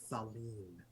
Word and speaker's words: Thaleen: be Thaleen. The I is long.